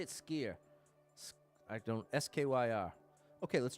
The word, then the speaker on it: Skyr: I like Skyr. No, how do you say it? Skier.